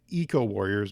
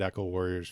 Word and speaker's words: Eco-Warriors: do my best to pronounce it eco warriors because i swear to you i said echo warriors for the first 46 years of my life so we're gonna we're